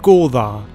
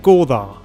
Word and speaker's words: goðar: Stattdessen beruhte das isländische System auf einer Anzahl von Stammesfürsten, den goðar. [Das isländische "eth" (ð) wird wie das englische "th" im Wort "father" ausgesprochen] Die Siedler Islands teilten das Land in vier Teile ein und jeder Teil hatte neun Stammesfürsten.